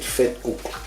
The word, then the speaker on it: vetkoek: That's how you say it, vetkoek.